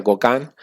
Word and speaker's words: Gauguin: Los tres exponentes más reconocidos en la historia es Gauguin, se escribe Gauguin, se pronuncia Gauguin, Toulouse, Henry Toulouse-Lautrec, se escribe, pero es Lautrec, no me sale el acento francés, y Van Gogh, ¿no?